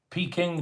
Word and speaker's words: Peking: But the PR and the waiter corrected me and said it's actually Pekin. That's coming from the staff themselves. It's pronounced Pekin according to the staff.